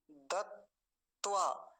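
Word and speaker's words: दत्त्वा: थोड़ा ध्यान से देखेंगे क्योंकि दो त का बने हुए हैं इसमें एक दोनों ही तकारप्पन दवा अगर इसको रोक रोक के बोले पहले इतना हिस्सा बोले फिर इतना हिस्सा बोले तो देखिए बड़ा अच्छे से समझ में आ जाता है दत त्वा दत त्वा है ना और दोनों को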